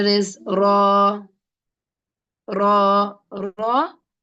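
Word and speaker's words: راء: Here it is heavy. Remember the Ra is heavy and light sometimes. So here, as a basic student who doesn't know the Tajweed rules, now let's pronounce the Ra as heavy.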